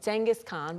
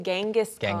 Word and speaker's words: Genghis Khan: Yeah, Genghis Khan, but 네. some people say Genghis Khan.